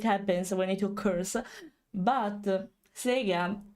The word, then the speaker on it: Sega: because I'm used to the Italian pronunciation of CS because when we hear the introduction of that brand, it's Sega. So yes, Sega, it should be.